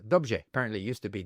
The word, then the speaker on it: dobrze: So in Czech, for example, the R-E is pronounced rj, dobrze, for well, where the same word in Polish is pronounced dobrze.